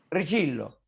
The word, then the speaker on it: Richillo: Si dice así, ¿no? Sí, sí, sí, sí. Richillo. Ven. Sí, sí. Así, así pronuncia. Acá veo a acá veo al al doctor Arellano, eh, viejo conocido.